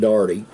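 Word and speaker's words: Dougherty: remember we were living down in in a darty d-o-u-g-h-e-r-t-y but it's pronounced darty gotta get a sip when all that was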